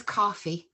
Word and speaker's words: Coffey: Oh, it is Coffey. It's spelt EY, but it's Coffey, yeah. It sounds the same as coffee. Okay, well, that's always good.